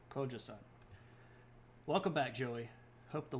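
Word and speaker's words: Gojoseon: The Kojoseon, and I know that's spelled with a G, but we all know that the G's and K's and things are roughly interchangeable. And the EU or EON here makes like a sound, so Kojoseon.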